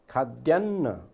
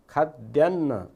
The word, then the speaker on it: खाद्यान्न: अब खाद्यान्न, खाद्यान्न यसलाई दोब्बर द बोलिएको छ, खाद्यान्न ल।